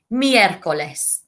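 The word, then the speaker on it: miércoles: tuesday martes wednesday miercoles miercoles four syllable words miercoles and miercoles is named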